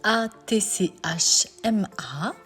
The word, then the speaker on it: açma: une recette turque s'allier ce sont des matches mais ça se prononce à tch m ce sont des pains